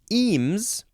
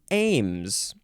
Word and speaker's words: eames: my throat so much next is eems or Ames so it is spelled e-a-m-e-s with a capital E and so eems makes sense but Ames now if you change